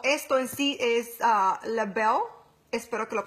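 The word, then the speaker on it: L'Bel: Lebel, Lebel, se pronunciaría bien.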